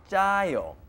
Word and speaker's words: 짜요: 짜요. It's like a J sound, but it is two J's. So it's 짜요. Oh, 짜요. 정말 짜요. Since something is really salty, 정말 짜요, or really spicy, 정말 매워요, or really sour, 정말 쉬어요.